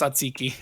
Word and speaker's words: tzatziki: It's pronounced tzatziki.